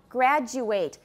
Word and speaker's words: graduate: in the same category so if it is a verb we pronounce ate an ate suffix as eight for example graduate i know i've mentioned